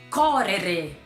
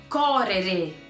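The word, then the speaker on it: correre: correr um verbo correr em italiano se fala coré coré tá lembra do erre do vovô e acrescenta o e no final ele também é escrito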